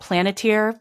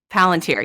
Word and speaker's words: Palantir: like Peter Thiel, who owns what's it called, Planeteer? I always forget how to pronounce it. Palantir, yes.